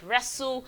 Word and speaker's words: wrestle: have rancid, we have wrestle. The W is silent, so the word is starting with the letter R.